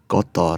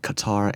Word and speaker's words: Qatar: Guys, just try and pronounce stuff the way native people like Qatar and Kiribati instead of Qatar and Kiribati.